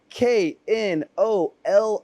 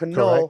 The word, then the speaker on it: Knoll: For everyone watching, Knoll, Knoll, that is how you say it for my friends in America who are mispronouncing it. Knoll, Correct. Knoll.